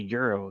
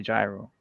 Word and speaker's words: gyro: oh no it's a euro euro euro you they would they like they don't they don't accept that you say gyro it has to be euro oh yeah so yeah